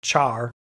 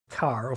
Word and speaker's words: char: still in my brain, char instead of car. Or it has to be car because it's character.